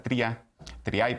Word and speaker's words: Triay: También nos acompaña Triay, asesora legislativa. Buenas noches. ¿Sí pronuncié bien el apellido? Sí, Triay.